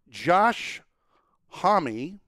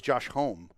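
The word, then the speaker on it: Josh Homme: shows like some of them daily right so josh homie that's the pronunciation yeah i didn't know that until i listened to his show i always thought it was josh holm but it's joshua yeah yeah of queens of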